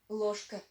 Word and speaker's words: ложка: Ложка. Ложка. Mind the pronunciation. We do not pronounce it like ложка. We pronounce it like ложка, as if we had the letter sh in there.